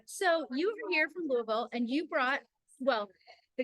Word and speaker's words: Louisville: right I always try I always feel silly when I try to say that but I think it's like say it like you've been drinking bourbon which there's a chance